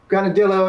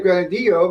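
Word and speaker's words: granadillo: like i uh just like americans say uh gonodillo instead of grenadillo because they don't you know we don't expect to pronounce things in spanish sierra cote is a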